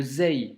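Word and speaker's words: زاي: Donc, le zei, donc la lettre du jour, se prononce comme le Z en français. Donc, pas de grande complication dans la prononciation. C'est comme un petit Z et c'est une lettre amincie sans emphase.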